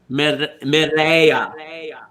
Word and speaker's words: Mireya: How do you say it again? Mireya. Say it again. She's going to say Mireya. Mireya. Mireya. Kind of like that.